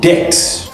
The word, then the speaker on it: debt: bomb ba number 4 debt b is also silent you cannot say debt number 5 climb b is also silent number 6 crescent C is silent.